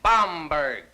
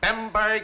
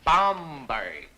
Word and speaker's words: Bomberg: than fail this course my name is bomberg it is not bomberg it is not bber it is not bimber it is bomberg you'll all do yourselves a great favor by not mispronouncing my name if anyone here